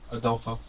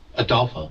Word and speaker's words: Adulo: Adulo. Not Hitler. Adulo. Yeah. Adula.